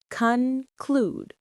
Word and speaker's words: conclude: Conclude. Stress on the second syllable. Conclude. It rhymes with rude.